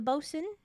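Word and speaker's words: boatswain: says the both the bosen boat swin I'm pretty sure it's pronounced BOS uh Ralph rackstraw enters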